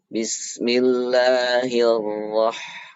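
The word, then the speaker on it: بسم الله الرحمن الرحيم: Bismillahirrahmanirrahim. Ya, hati-hati cara baca basmalah. Huruf ra. Bismillahirrahmanirrahim. Ya, jangan sampai hir. Ya, mulutnya jangan sampai hir. Hirrahmanirrahim. Ya, huruf ra tidak boleh bibir bergerak ke depan.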